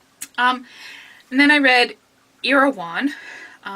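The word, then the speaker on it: Erewhon: and then I read irawan which is how he tells you how to pronounce it by Samuel bucket or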